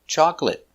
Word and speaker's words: chocolate: Chocolate chaw chalk l chocolate ch chocolate chocolate stop t chocolate remember two syllables chocolate not chocolate not three two chocolate stress is on the first syable Chocolate.